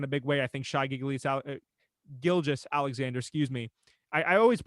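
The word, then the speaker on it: Gilgeous-Alexander: I think Gilgis Alexander, excuse me. I always mispronounce that guy's name, and I got to stop doing that. Shai Gilgis Alexander.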